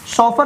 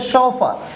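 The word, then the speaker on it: chauffeur: हम लोग बोलते हैं इसको शॉफर नहीं बोल सकते, जो राइट प्रोनाउंसिएशंस है इसको हम लोग बोलते हैं शॉफर। शॉफर क्यों? क्योंकि ये फ्रेंच वर्ड है तो उसकी प्रोनाउंसिएशन भी हम लोग फ्रेंच के जैसा ही करेंगे ना, इंग्लिश के जैसा तो कर नहीं सकते।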